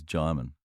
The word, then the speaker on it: Djimon: But the first time I met him, because everybody wants to say his name a different way because of the way it's spelled, and he said to me, Djimon, like Simon. So from then on, every actor I introduced him to, I said, this is Djimon, as in Simon, Djimon Hounsou, right?